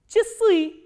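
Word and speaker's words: часы: a, s, I, and the stress is on I. And here you have to remember, just memorize it, that this a sound is pronounced as e, not as a.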